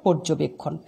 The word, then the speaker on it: পর্যবেক্ষণ: পর্যবেক্ষণ শব্দটার উচ্চারণ হবে পর্যবেক্ষণ। তার মানে রেফের আগে অয়ের উচ্চারণ ওয়ের মতো হবে।